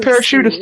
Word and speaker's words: parachutist: You can use paratrooper if you feel like it, but He was he's a parachutist in the experienced. service. Parachutist. Yeah. It has an accent on the I.